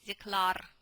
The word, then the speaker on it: declare: Declare. Да, declare. Но читается declare.